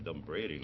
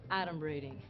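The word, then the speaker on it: adumbrating: The dumb braiding. That's not even a word. Okay. First of all, it's pronounced Adam braiding and it means pretending foreshadowing.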